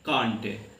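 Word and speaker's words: can't: जैसे आप कांट ले लो, CAN''T, तो हम लोग पढ़ते क्या कांट। यही अमेरिकन लोग जो होंगे वो पढ़ेंगे कंट। तो हम लोग कांट पढ़ते हैं और वो कंट पढ़ते हैं, दोनों प्रोनाउंसिएशन सही है।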